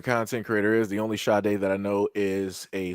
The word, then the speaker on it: Sade: bar this devil's name, pronounced Sade, spelled S-A-D-E.